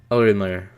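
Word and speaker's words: Olimar: to that original name by pronouncing Olimer with a softer L. So it's Orimer. Orimer. He kind of mixed the two, sorta.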